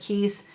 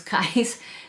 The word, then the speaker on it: Kyse: I've heard some people pronounce it Kyse. I actually think the correct way to pronounce it is Kyse.